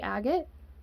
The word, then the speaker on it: agate: show you each one here's the agate or a gate depending how you want to pronounce it moonstone blue appetite a